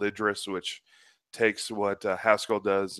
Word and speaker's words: Idris: I probably heard 100% of the time Idris as the pronunciation, but who knows? Idris. Idris, correct. Pascalish language.